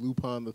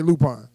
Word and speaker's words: Lupin: like the you know the only time i ever heard the name pronounced was watching lupone iii yeah yeah that's the way we said lupone yeah i say lupine yeah like i guess some people say lupin it's at the point